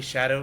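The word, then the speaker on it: Scadu: It's really shadow. The real pronunciation. Oh my god. What? In what language does that make sense? Old English it would be pronounced shadow.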